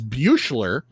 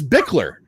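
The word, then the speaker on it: Buechler: the blu-rays john carl what i would pronounce as bueschler i don't know what is what is bickler buckler so b-u-c-b-u-e-c-h-l-e-r which i would either figure is beauchelay or something is beakler it's one it's one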